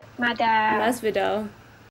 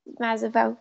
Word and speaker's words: Masvidal: Masvidal. Masvidal, yeah.